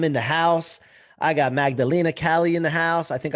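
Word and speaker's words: Magdalèna Kalley: c rock i'm in the house i got magdalena cali in the house i think i pronounced that right correct yes you did yeah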